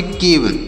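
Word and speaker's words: cave: ई से व होगा तो इसे पढ़ेंगे केव इसे काब नहीं पढ़ना है बहुत सारे लोग के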